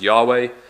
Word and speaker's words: Yahweh: YH wh or yod Val which which we pronounce as Yahweh um they reverted to an older form of